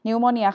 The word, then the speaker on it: pneumonia: โม นี่ นะ คะ อัน นี้ ไม่ อ่าน ออก เสียง ตัว P เนาะ นิว มอ เนี่ย ฮะ pneumonia คือ โรค ปอด บวม